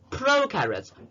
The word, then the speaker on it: prokaryotes: They include prokaryotes. Pro rhymes with no, so there will be no nucleus, while eukaryotes rhymes with true, so it has a true nucleus.